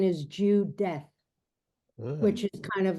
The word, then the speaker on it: Judith: And I only just realized it when we were doing this, when you said about pronunciation, that the pronunciation is Judeth, Ugh.